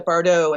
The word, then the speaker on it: Bardo: Not only is it the Bardo, and thank you for the correct pronunciation, not only is it the Bardo that